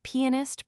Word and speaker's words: pianist: There are, again, pianist primarily and telegrapher. The English accent the first syllable of each, we commonly accent the second.